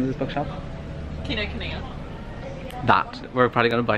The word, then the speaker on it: Kinokuniya: Chloe, how do you pronounce the name of this bookshop? Kinokuniya.